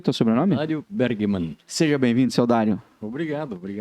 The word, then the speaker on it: Bergemann: É assim que pronuncia o teu sobrenome? Dário Bergman.